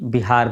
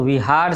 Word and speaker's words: विहार: भी बिहार पड़ा है भले ही आजकल हम लोग बिहार शब्द में ब का उच्चारण कहते हैं करते हैं जबकि मठ के लिए जो विहार शब्द लिखा गया है उसमें व विहार है तो उन्हीं बहारों की